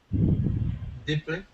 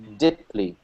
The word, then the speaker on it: deeply: just wanted to uh tune in on your pronunciation of these double E's can you say that me again diply yeah see not to be too picky but um it sounds to me like you're saying diply deeply and you want to